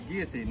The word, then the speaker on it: guillotine: it right honey yeah it's guillotine not guilty so it's just a sheet of